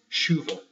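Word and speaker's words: chuva: right make sense but because it's Portuguese the CH becomes an SH and therefore it is shuva a little bit more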